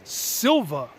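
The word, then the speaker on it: Sylva: with matt from the duo finds we're in silva north carolina today yes that's how you say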